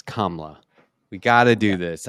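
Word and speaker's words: Kamala: to do this oh you're probably still saying kamla Harris's name wrong it's KLA we got to do this I say it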